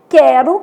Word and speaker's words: quero: Então, a gente tem quero, que o U é nulo, sequência, que o U é semivogal, e averigue, que o U tem um som forte, né?